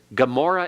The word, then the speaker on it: Gomorrah: about the I on there are certain situations in which the onion actually is pronounced almost like AG sound when you talk about the two cities Sodom and Gomorrah Gomorrah in Hebrew begins with an onion and what it really